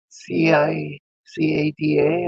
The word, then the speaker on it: cicada: or what's this s c i c a DA am I pronouncing that right was pronounced cicada or at least that's